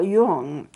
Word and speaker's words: Carl Jung: But this is started by a Swiss psychologist whose name was Carl Jung. Now, you spell his name J-U-N-G, but you don't pronounce it J-U-N-G. It's pronounced Jung.